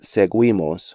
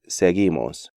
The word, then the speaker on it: seguimos: These letter combinations do not constitute diphthongs because U is silent in these sequences. So not quitar, but quitar, not querido, but querido, not seguimos, but seguimos, and not juguete, but juguete.